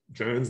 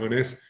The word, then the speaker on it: Jones: pampa de jones and literally the locals say jones not honest and have not found